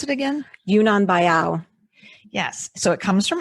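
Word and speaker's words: Yunnan Baiyao: How do you pronounce it again? Yunnan Bayao.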